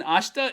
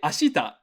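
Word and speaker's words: 明日: good all right next this e in ashta isn't pronounced too hard so we're just gonna kind of slur over it you could say ashita but uh you yeah most it it's very very very infrequently pronounced whenever you see a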